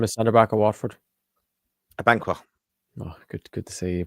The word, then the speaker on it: Abankwah: Abankwah. Oh, good to see you pronounce it right.